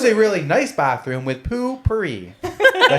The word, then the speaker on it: Poo-Pourri: It was a really nice bathroom with poo-pourri.